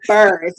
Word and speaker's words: Burse: Yeah, it's like purse with a B. Boom. So Burst, welcome to the channel.